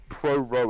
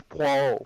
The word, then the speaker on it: Poirot: Marple, They- Poirot. Oh, Pro bro, wow, I love shit, Poirot. okay. No, you did not just say pro-ro. I said Poirot. You said pro-ro, it's Poirot.